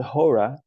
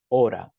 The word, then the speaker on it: hora: Remember the H in Spanish is silent. So it's not hora, it's hora.